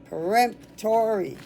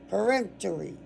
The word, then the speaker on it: peremptory: Peremptory. Okay. I want always wanted to put something between the P and the T. You don't.